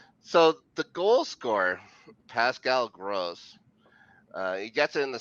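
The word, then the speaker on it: Groß: Yeah, The it's back of pronounced with his two jersey S's. says gross.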